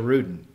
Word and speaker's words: Ruden: That brings us to our special guest, Rachel Rudin.